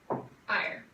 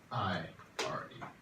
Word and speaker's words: ire: I-R-E. Can you erase your boards and then write down those three letters, ire? Good. I'm glad you remembered that silent E at the end that makes the I long.